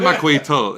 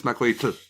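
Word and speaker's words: macuahuitl: It's at the back of your yeah, you put your tongue at the front of your teeth and you make a tl sound. So it's not macuitl, it's macuitl.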